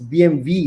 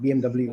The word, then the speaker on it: BMW: audi or volkswagen and how do you say bw it's uh it's bmv isn't it it's not bmw bmv yes yeah if we didn't know the whole world you've been saying it all wrong all these years it's